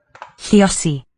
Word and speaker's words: lluosi: Lluosi. Lluosi. Okay, here's that voiceless L of Welsh. Lli. Voiceless lateral liquid. Spelled with a double L.